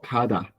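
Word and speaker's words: 가다: Por ejemplo, el verbo kada, ¿verdad? Se pronuncia primero con la G y después con la D, kada. Pero como la G está al principio, se pronuncia como una K, kada, que es el verbo ir, kada.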